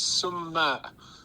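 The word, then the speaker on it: سماق: It's summa, and it's with the emphasis on the M in the middle.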